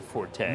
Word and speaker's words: forte: That's not your forte. No. Or fort, depending upon whether you want to pronounce it right or wrong.